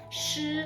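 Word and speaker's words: 失: So just FYI, this one pronounced da in Chinese, it means big. This one, it means shi, which is like lose, lost, things like that.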